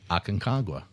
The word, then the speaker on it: Aconcagua: outside of Asia, which we just said was Aconcagua? I'm glad you pronounced that right.